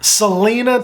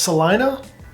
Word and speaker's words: Celina: for all intensive purposes Selena Texas is one of Dallas's best suburbs what's that it's pronounced Salina I don't believe you